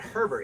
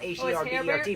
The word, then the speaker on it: Herbert: It's not Herbert. It's spelled H-E-R-B-E-R-T, but it's Herbert.